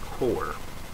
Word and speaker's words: QOR: So it's pronounced core.